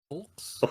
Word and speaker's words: folks: Folks. You heard it here, folks. That's funny because no one in my region actually pronounces that L. It's just folks.